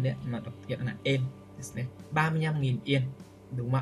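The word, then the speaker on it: 円: Đây là chữ viên nhé, chữ en, đọc là en ạ. Tiếng Việt Việt Nam chúng ta đọc yên đấy, mà đọc hiện là en.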